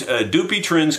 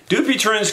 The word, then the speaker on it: Dupuytren: It's known as Dupuytren's contraction. At least that's how it's pronounced in the television commercial that I see, and I've seen the commercial maybe three or four times.